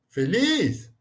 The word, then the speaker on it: feliz: Quando a gente fala feliz, ô feliz. Então, você percebe que a força da pronúncia está na última sílaba, ou seja, é a sílaba tônica, né?